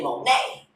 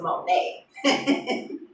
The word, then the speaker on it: Money: She like, I could spell it money, but we gonna say Monet. Like, ghetto feel right, but I fuck with it though. Cause yeah, I'm natural born hustler. So yeah, I fucks with it. So my shit MO apostrophe NEY. That's my middle name. She's like, yeah, we gonna pronounce it Monet.